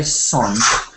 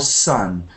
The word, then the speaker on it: sun: So when we say sun, try not to say son, but more sun. And try to get more up.